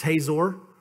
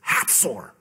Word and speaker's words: Hatzor: That's Hazor. They go, ha. It's Hatzor, you know, or however they say it.